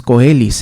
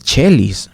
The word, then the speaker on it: coelis: O también he visto que algunos dicen coelis, no es coelis, es chelis, precisamente por ese sentido.